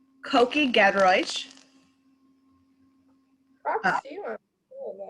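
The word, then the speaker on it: Kuki Gedroich: Koki Gedroich. props to you on doing that or pronouncing that.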